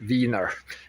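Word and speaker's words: Weiner: and even Anthony Viner. So he is spelled with EI but it's pronounced Viner just like a We'll come to more later.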